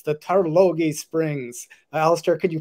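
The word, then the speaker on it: Tarlogie: uh at uh glenmorangie in scotland it's the tarlogy springs uh alastair could you pronounce turlogie better than i can no that was perfect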